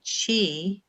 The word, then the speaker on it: qi: like acupuncture and it q i is the chi which is the same